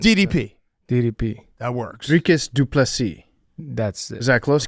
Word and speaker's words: Dricus Du Plessis: Dricus Du Plessis. Okay. The S is silent. DDP. DDP. That works. Dricus Du Plessis.